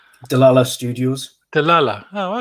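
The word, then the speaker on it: Dlala: directors on board as well how are you pronouncing that studio name de la la studios de la la oh okay i don't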